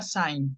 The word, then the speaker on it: sein: En infinitivo se pronuncia sein, ¿ok?